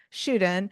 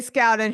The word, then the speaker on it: Scouten: and he's never corrected me I've been saying shoen so okay Scout and who's mispronounces your name oh name wrong oh that's